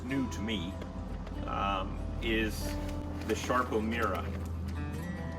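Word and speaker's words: Sarpo: And then the one new one that it's new to me is the Sharpo Mira. Even though it's spelled S-A-R-P-O, everybody says the way you pronounce it is Sharpo.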